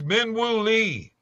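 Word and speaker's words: Min Woo Lee: It's Minu Lee. Okay. Well, sorry my pronunciation.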